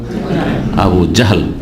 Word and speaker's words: আবু জাহল: জি, আমাদের দেশের লোকেরা আবু জেহেল বলে, এমনকি সাধারণ লোকেদের দেখা দেখে আমাদের দেশের বক্তারা ওইরকম ভাবে বলে জেহেল। অন্তত আলেমদেরকে, বক্তাদেরকে শুদ্ধ উচ্চারণ করা উচিত।